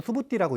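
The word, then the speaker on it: Subhūti: 자, 이 빨리 오르는 수부띠라고 읽습니다. 수볼이라고 안 읽고.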